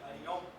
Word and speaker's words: Varignon: Varignon. Mas eu não estou nem um pouco preocupado com a pronúncia.